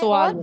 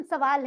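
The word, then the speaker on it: سؤال: और सुआलुन। सुआलुन, सवाल करना। उर्दू में प्रोनाउंसिएशन सवाल है, अरबी में सुआल, लेकिन असल में चीज वही है।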